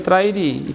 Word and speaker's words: Trairi: os primeiros documentos oficiais sempre tá a escrita Trairi a grafia muda com relação de acordo com o tempo mas a pronúncia sempre foi trair e permanecer um determinado momento